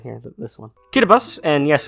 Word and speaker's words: Kiribati: what country this one right here this one kiribati and yes it's pronounced curibus for some reason that makes an us sound